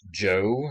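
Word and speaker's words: Zhou: yang lu yang the joe the shin she uh some of these different uh families these different societies so you see here this is the shang early this is pronounced joe the early joe dynasties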